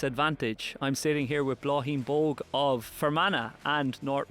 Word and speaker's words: Bláithín: Bláithín or Bláithín?